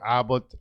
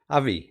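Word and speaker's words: AbbVie: for beckham dickinson and global medical head for albert uh ba right how do you pronounce it avi yes abi abi i'm sorry about abby oscar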